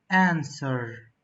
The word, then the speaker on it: answer: the next one answer answer silent letters W and the last word